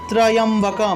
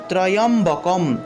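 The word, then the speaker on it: ত্র্যম্বকম্: তা চলুন আমরা প্রথমে আওম উচ্চারণ করলাম, তারপরে ত্রয়ম্বকম। এখানে দেখুন একটা তয় নিচে রফলা, অর্থাৎ ত্র উচ্চারণ করব, ত্র। তারপরে দেখুন একটা জফলা আছে, এই জফলার পরিবর্তে ইও উচ্চারণ হয়ে থাকে।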